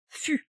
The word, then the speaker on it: fût: Alors vous imaginez un beau chêne, un très gros chêne, et vous coupez son fût. Alors pourquoi j'utilise le mot fût? On a 2 mots... Il faut surtout bien prononcer, parce que moi j'ai entendu cul.